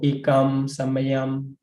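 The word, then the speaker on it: ekaṃ samayaṃ: So, but if you know, this is referring to the Nikahita, which have to pronounce with the closed mouth. After that, you need to close. So Ekam Samayam, but no difference, referring to the same word.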